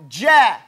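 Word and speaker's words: جَ: Your mouth should be tight in the front.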